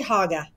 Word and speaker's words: Cuyahoga: She says Hoga, right, Mary Kay? I say Haga. Haga. Oh, my God. No way. I thought only people from Parma said Haga.